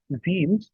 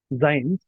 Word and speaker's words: zine: So I went and it turns out that Ze or Z I I think it is pronounced Z.